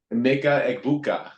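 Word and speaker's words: Emeka Egbuka: Meka Egbuka. Ebuka.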